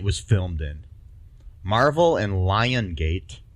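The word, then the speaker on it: Lionsgate: filmed in Marvel and lion gate films not Lion's gate I'm just I'm just saying how they say it um need to brace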